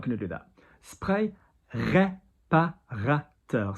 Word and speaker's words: réparateur: Spray, réparateur. So ré, R-E, pas going higher, ra going higher, teur, réparateur. Spray réparateur, next word, like calming, soothing, apaisant.